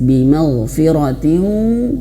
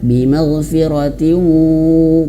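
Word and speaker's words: بِمَغْفِرَةٍ: Kemudian juga di sini ada masih ayat 11 bimaghfiratin. Nah, di sini ta marbutoh berharokat kasratain berjumpa dengan huruf waw. Cara bacanya bukan hanya sekedar ditahan bimaghfiratin, bukan, tapi juga harus masuk hidung.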